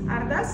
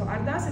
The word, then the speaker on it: Ardas: I just explain you pronunciation. The first line is Ardas. Ardas, it means I asking. So Ardas, it's like a prayer, or I ask you.